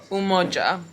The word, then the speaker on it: Umoja: Umoja.